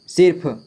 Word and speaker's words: सिर्फ: की मात्रा है तो यहां पे उस र का उच्चारण उस शब्द से पहले किया जाता है देखिए फ में लगा है मात्रा लेकिन उसका उच्चारण यहां पर किया जाएगा यानी फ से पहले सी के बाद सिर्फ सिर्फ हैय ठीक है क्या पढ़ेंगे इसे सिर्फ लिख लिए घिस चिट